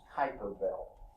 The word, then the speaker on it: Kuiper Belt: I think the right pronunciation is Kuiper Belt. I've heard someone call it a Kuiper, which could be some. In fact, most languages, an I doesn't have a long I sound, it has a sort of a short E sound. So that may be closer to it, but I've heard it most of the time called Kuiper Belt.